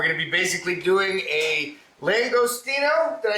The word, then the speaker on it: langostino: today uh we're gonna be basically doing a langostino did i say that right jeff langostino i just said it right they had to